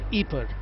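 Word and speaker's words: Ieper: War the city of April or eeper as it is locally pronounced in flemish was the scene of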